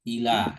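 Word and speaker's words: إلى: Kemudian nah ini yang tiga huruf hamzah berharokat kasroh, huruf lam berharokat fathah, kemudian ada iya tidak bertitik ya. Ini termasuk alif sebenarnya ya. Ila dibacanya. Kemudian yang tiga huruf lagi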